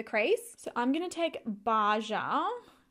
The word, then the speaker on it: Baja: so I'm gonna take baja pronounce Basha it's a beautiful rich